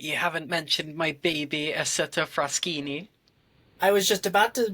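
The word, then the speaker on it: Isotta Fraschini: But I don't remember what the correct pronunciation of it was now. Assetto Fraschini.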